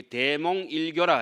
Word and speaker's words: 대몽일각: 우리 대몽일교라 하죠. 대몽일각이라고 쓰고 읽을 때는 교라고 읽죠.